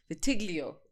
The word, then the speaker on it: vitiligo: How is someone supposed to speak to someone who is experiencing vitiligo? Like vitiligo.